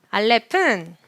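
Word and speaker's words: אלף: 써보실까요 우리 배웠던 알렙 알렙은 모음보호가 올 때만 발음하고 모음보호가 없을 때는 발음하지 않는다 묵은 발음이라고 말씀드렸어요 그렇기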